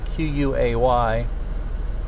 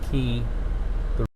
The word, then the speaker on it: quay: where the the at the the key spelled q-u-a-y most people mispronounce it quay but it's called pronounced key kansas city began and just paint like what